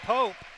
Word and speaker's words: Pope: I believe it's Pope. It's spelled P-O-P-E, but the public address announcer introduced him as Luke Pop, and I didn't know if that was just an error on his part or if there really